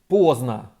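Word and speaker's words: поздно: The opposite of rana is pozdno, late. By the way, the d in it is silent.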